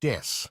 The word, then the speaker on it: です: themselves, they will use a pun with the English word death instead of the Japanese word des, ベビーメタルです as des means I am or we are and is pronounced similarly.